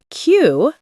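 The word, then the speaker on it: queue: Q pronounced like Q means to line up in order.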